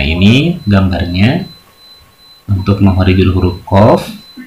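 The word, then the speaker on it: ق: Nah, ini gambarnya untuk makhorijul huruf qaf. Untuk makhorijul huruf qaf adalah pangkal lidah bertemu dengan langit-langit yang atas. Qaf. Ini agak berat, ya, dibacanya. Agak nyengklik sedikit, ya.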